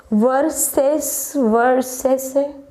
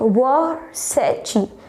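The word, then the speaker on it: Versace: वर्सेसे नो, इट वर्सेची. What is that? या वर्साची. वर्साची है इसका रियल नेम.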